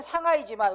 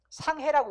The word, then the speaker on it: 상하이: 그러니까 원칙은 상하이지만 우리가 이거 지금 뭐라고 읽고 있어요? 상해라고 읽고 있잖아요. 그러니까 상해를 허용한다.